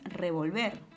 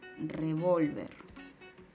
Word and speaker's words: revólver: correcta pero la palabra la última palabra de esta oración no es revolver verdad es revolver eso quiere decir que la mayor fuerza de voz está recayendo en la penúltima sílaba que es una palabra